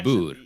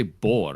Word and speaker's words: Boer: But like she can't say boor. Like she can't roll her R's. Boor. Yeah, there you go. You can because you roll your R's quite frequently, just in normal speech. Yeah, whereas she can't do that. It's like the Americans, they say boar. I'm like, no, it's oor.